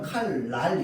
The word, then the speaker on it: 칼날: 자, 그러면 잘 보세요. 칼날 이렇게 되어 있지. 여기에 있는 리을이 어떻게 영향 줘? 이렇게 니은으로 영향 줍니다. 최종 발음은 칼날 이렇게 되는 거야.